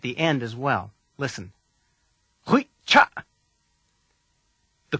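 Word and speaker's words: ghuy'cha': Hui cha. The first sound of the word is r. It's the same as the last sound of todshach, but hum while you say it.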